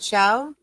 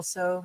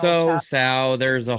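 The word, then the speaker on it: Tso: So is pronounced Chow, says Roots Calhoun. Instead of General So, it's General Chow.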